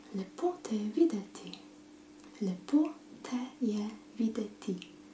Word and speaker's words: lepo: Lepo te je videti. Lepo.